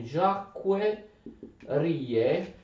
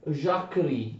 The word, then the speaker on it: Jacquerie: Attenzione, Jacques Rie, ma si legge Jacquerie in francese.